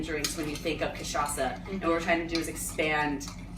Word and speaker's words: cachaça: And for anyone who's just tuning in, you can probably guess, but we're making cocktails with cachaça, the national spirit of Brazil.